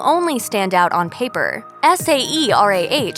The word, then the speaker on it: Saerah: Saerah still sounds like Saerah, regardless of how it is spelled on the child's birth certificate.